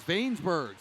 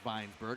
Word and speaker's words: Vainbergs: Here's Vainbergs, and thanks for that pronunciation check there, Gabby, the always intrepid reporter Gabby Shirley, making sure we got that correct. Vainberg, not Weinsberg, as the play-by-play guy was saying.